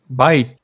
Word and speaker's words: byte: the word bite but not spelled like the way you would spell bite but it was b-y-t-e bye or you could say bit the word bit as well so the